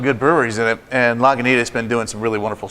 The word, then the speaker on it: Lagunitas: very symbiotic right sort of relationship so whereas lagunas Lagunitas Lagunitas and that's a fresh and it's and